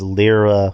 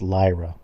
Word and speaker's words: Lyra Valkyria: like okay uh Drew why do you always pronounce Lyra valkyria as lra when it's Lyra and Justin why do